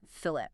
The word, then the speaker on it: fillet: Remember that pronunciation, fillet.